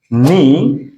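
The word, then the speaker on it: know: number one হচ্ছে যদি কে এর পরে এন থাকে অর্থাৎ এন এর আগে যদি কে থাকে তাহলে কখনোই ওই কে এর উচ্চারণটা হবে না নো এখানে কে এর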